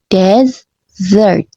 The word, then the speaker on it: desert: Pengucapannya beda tipis di penekanan suku kata. Desert penekanannya di suku kata kedua. Desert. Sementara desert di suku kata pertama desert.